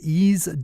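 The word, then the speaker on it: Eaze: in your town one more time and that's YZ dot-com which is spelled e a-z e YZ calm good morning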